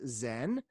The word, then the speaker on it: Zen: so Chung Buddhism and that character Sean is pronounced in japanese Zen Zen means Deanna Sean means Dianna and Bodhi